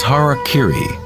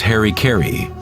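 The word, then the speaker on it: hara-kiri: suicide or seppuku was Hara Kiri was often mispronounced as Harry Carey it means to impale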